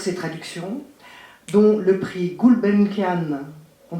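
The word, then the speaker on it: Gulbenkian: prestigieux prix pour ses traductions dont le prix gulbenkanan on prononce comme ça gulbenkanan books 2015 de la meilleure traduction d'une œuvre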